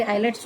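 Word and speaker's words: islets: तर endocrine Gland म्हणून कोणते टिश्यूज काम करतात, तर पॅनक्रियाजमधले आयलेट्स ऑफ लँगरहॅन्स, याचं स्पेलिंग जरी आयलेट्स आहे तरी आयलेट्स ऑफ लँगरहॅन्स, ह्या ज्या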